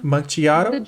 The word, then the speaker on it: macchiato: holy macchiato yeah because the c c h because the a indicates in italian the h indicates that you should pronounce the c as a k at least before at